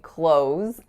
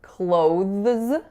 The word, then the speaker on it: clothes: I'm wearing clothes and I often hear closes or closes so let me interject here that it's technically not incorrect to say clothes with a voiced th followed by a zip however it's very very very rare that you'll catch a native speaker saying that and the reason is because it's really awkward and cumbersome to physically do that so it's absolutely acceptable